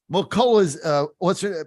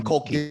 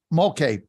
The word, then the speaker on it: Mulkey: McCullough's, how do I say her name? I always Kim Mulkey. get it screwed up. Mulkey.